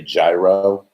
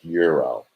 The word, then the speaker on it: gyro: lot of americans say gyro gyro but it's pronounced euro okay so it's like the european dollar or whatever it's it's